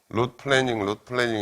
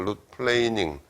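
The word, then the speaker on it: root planing: 영어로 룻 플레이닝, 룻 플래닝 이렇게 발음하는데 그건 틀렸고 룻 플레이닝, 플레인 어떤 평면이라는 플레인이라는 게 동사로 쓰면 이렇게 평평하게 하다 뭐 그런 뜻이거든.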